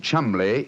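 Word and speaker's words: Cholmondeley: Being an American, he had no reason to know that the name Chumley is in no way pronounced the way it is spelt.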